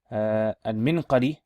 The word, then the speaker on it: المنقري: And المنقري بسكون الميم وسكون النون أو بكسر الميم وسكون النون وفتح القاف منقري.